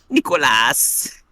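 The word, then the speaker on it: Nikolas: oron Nicholas Luther why are both his names pronounced weird it's AAS n i k o l a s Nicholas well you know vrea got to name him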